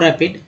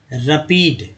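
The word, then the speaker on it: rapid: मुझे पता है, मैं पढ़ता हूँ रैपिड, आप इसे क्या पढ़ते हैं? रैपिड, रैपिड या रपीड या रेपिड। जाहिर सी बात है रैपिड सही उच्चारण है।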